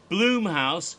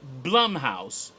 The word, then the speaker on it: Blumhouse: of the company is Blum house so for ten freaking years I've been calling it Blum house when I should have been calling it Blum house and his name is Jason Blum I just didn't know